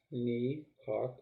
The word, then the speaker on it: Nehawk: It's pronounced Nehawk. The T is silent.